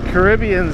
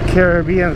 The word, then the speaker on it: Caribbean: we are on the Caribbean side or the Caribbean side if you want to say it wrong and it is I